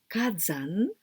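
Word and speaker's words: 火山: Fire and zan, here we pronounce zan, but only this kanji, it is yama, mountain, mountain. So kazan, fire and mountains.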